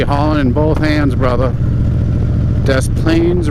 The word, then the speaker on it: Des Plaines: in both hands brother Des Plaines River I know the S is silent off my [ __